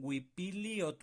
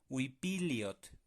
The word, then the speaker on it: uipili ot: La última sílaba de huipili la vamos a juntar con la siguiente palabra, como si fuera una sola sílaba. ¿Cómo? Huipiliot. El LI de Wipili al final, li, se va a juntar con ot, que es su siguiente palabra. Wipiliot. Entonces, ¿qué va a sonar ahí? Liot. Liot.